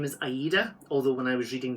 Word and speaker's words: Aida: Her name is Aida, although when I was reading the books, I pronounced it Ada because...